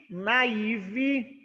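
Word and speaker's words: naive: eu tenho os linfócitos na iv essa é a pronúncia na iv o que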